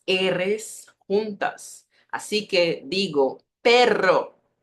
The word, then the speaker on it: perro: arroz arroz Tierra Tierra uma vibração mais forte quando eu tenho os dois R juntos e muita atenção em